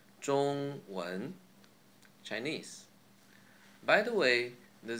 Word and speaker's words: 中文: Example, again, 中文, 中文, Chinese.